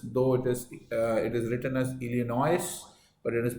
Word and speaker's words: Illinois: Illinois, this is, though it is written as Illinois, but it is pronounced as Illinois. The S is silent, right?